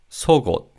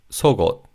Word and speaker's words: 속옷: As the second syllable in this word begins with an iung, the 기역 받침 in the first syllable carries over to the second syllable. So it's 속옷, 속옷.